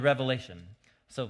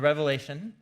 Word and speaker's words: Revelation: from the book of the revelation not revelations with an S on the end it's the most common mispronunciation of the book the revelation and you know I